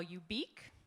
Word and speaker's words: ubiq: is a new word I call you beak you pronounce it like unique or if you prefer